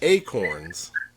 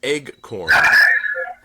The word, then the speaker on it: acorn: What tree produces acorns? Sometimes pronounced eggcorn. Incorrectly pronounced.